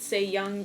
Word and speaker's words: Sae Young: about the character named se-young I know that you pronounce it se-young because I she is Korean and this character is